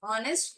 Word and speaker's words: honest: honest, H is silent again.